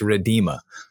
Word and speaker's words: Rhiddima: It's Rhiddima. Rhiddima. That is how we're going to pronounce your name. So everyone who's going to be listening and watching this podcast or listening to this podcast, please pronounce her name correctly from now on, because she's not going to answer you anymore. So listen, you got to say it's Rhiddima.